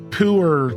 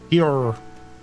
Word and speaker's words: pu'er: Let's go ahead and make some pu'er tea. Yes, get ourselves some pu'er tea out here. It's got a laxative effect. Shut up. Pure, but it's pronounced like a hick. Pure.